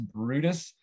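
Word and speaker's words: Bryde's: it's called the bride's whale it's called It's pronounced Brutus um and this little Glimpse was enough to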